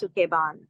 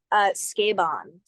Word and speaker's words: Sukeban: So just so you know, it's not pronounced Sukeban. Oh, Jesus. I didn't want to correct you, but it's pronounced Sukeban.